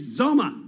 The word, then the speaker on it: XOMA: do that for you it's zoma and that's spelled x-o-m-a uh that's not the